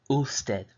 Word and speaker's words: usted: U is the first half of the word, and sted. So this word is a little easier to pronounce for English speakers because you have the U here, and then the second half you have sted, so you just say it as you see it.